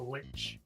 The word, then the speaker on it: lich: a human, but also, what do you call it? Like a lich? Is it a lich? Like? A lich. Lich. Okay. pronounced it correctly the first time.